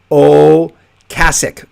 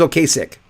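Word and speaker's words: Ocasek: and roll rock hall of fame induction it's oh kasich okasic not kasich oh cassidy everyone says okay sick um but it's okay you got it okay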